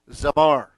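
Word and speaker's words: זמר: This is pronounced, again, the Z sound, the A, the M, the A, and the R, Zamar. That's how you pronounce this.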